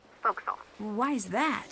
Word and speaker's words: forecastle: ship, but it's pronounced forecastle. Why is that? Try pronouncing it like an English sailor with no formal education. Forecastle.